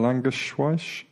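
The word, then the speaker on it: Langewiesche: the best pieces of recently is by William languish wash because that's how you pronounce his name he's a former airline pilot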